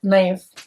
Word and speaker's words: knife: And even conceptually, the idea that knife is the silent K.